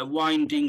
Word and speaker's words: winding: So you can write, and yeah, it's like, yeah, winding up a clock. Not the wind in the weather, you know, like that. So it's that wind.